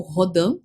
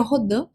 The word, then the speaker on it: Rodin: que o matemático né Mark rodim ou rodan como queira pronunciar o certo seria rodan mas vou falar então